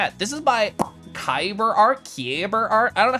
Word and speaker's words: Keliff: It's pronounced Keliff?